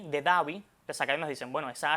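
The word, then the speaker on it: Abu Dabi: Abu Dhabi, S D H A B I Davi, las academas dicen, bueno, esa H ahí no tiene ningún sonido, vamos a eliminarla.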